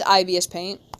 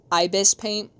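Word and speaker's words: ibisPaint: this is IBS Paint I'm saying it Wrong. Ibs. Ibis paint. Ibis paint. I'm saying like the bad condition where you need to go to the bathroom all the time. Ibis paint. There we go.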